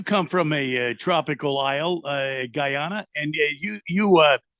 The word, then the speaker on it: Guyana: that Keon you come from a tropical aisle Guyana and you you uh Guana how do you pronounce it Keon Guana yeah it's Guyana it's